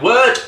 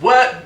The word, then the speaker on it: wort: So at this stage, we do have our wort or wort, either pronunciation's fine. I go with wort, mainly because I'm correct.